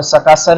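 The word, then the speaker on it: Sakesar: उसके बाद जो है क्वेश्चन है the highest peak of salt range is, इसको सकासर भी बोलते हैं, सक्सीर भी बोलते हैं, जैसे भी आप इसको प्रोनाउंस करें।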